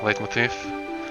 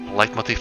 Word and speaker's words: leitmotif: Leitmotif, I believe it's pronounced. don't think we've heard this song yet. This body. Yeah, it totally has her leitmotif in it. Keep calling it leitmotif. Light doesn't make sense pronunciation for that.